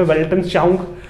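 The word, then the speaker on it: Weltanschauung: वेल्टन, इसके प्रोनाउंसिएशन आप देख लीजिए, वेल्टनश्चाउंग.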